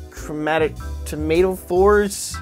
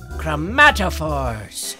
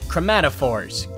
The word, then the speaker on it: chromatophores: chromatophores whoops my bad um so these uh chromatic tomato fours tomato Falls really Ray don't beat yourself operator eh it's a hard word it's pronounced chromatophores chromatophores got it and how do they change your